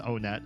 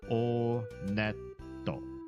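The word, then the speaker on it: Onett: It is pronounced Onet. I did check the Japanese pronunciation. And in Japanese, when you go to this first town, they pronounce it Oneto. Oneto. So, Onet.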